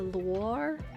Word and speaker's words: Loire: The Loire? I assume it's pronounced like Noir.